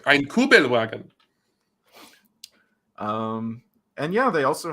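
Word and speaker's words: Kübelwagen: turns into a Volkswagen koug vagen C Fu I mispronounced it I mispronounced it yes like kuel wagon um and yeah they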